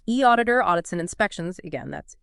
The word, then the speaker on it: eAuditor: We're drawing our insights from info on the e auditor audits and inspections website. That's e auditor and uh we pronounce it e auditor.